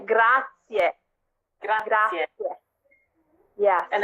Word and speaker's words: grazie: looked weird if you say that it's like grass yeah yeah yeah and it's not grazie you're gonna